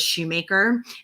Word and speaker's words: Shumaker: But as I mentioned with the MSG abbreviation, my middle name, which is actually my maiden name, was Shumaker. And it's spelled just like phonetically like the shoemaker.